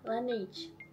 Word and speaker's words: Laneige: Lanage bacanya gimana? Lanage.